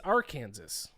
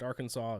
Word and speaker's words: Arkansas: Uh, next up, we have uh Kansas against our Kansas, which is a very funny matchup. Obviously, I know that there it's pronounced Arkansas is making a joke.